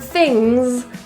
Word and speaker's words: things: In the word things, the ing, that G is actually not a full g sound. It's a nasal So rather than things, that hard G is gone.